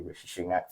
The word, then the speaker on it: Rishi Sunak: I'll say his name properly, Rishi Sunak, for everyone.